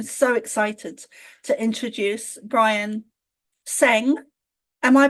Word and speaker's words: Tseng: is it's I'm so excited to introduce Brian sang am I pronouncing that correct I am yeah absolutely you